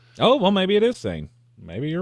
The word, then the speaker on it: Seine: I believe it's pronounced Sin. Well, when I looked it up, it was the pronunciation was S-A-Y-N. So, oh, well, maybe it is Seine.